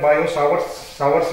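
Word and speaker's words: Biot–Savart: यहाँ पे current steady है तो दो चीजें हम यहाँ पे पढ़ेंगे, बायोट सावर्ट्स लॉ, इसमें टी दोनों में ही साइलेंट रहता है, बायो सावर्ट्स लॉ and ampere सर्कुटल लॉ, ठीक है।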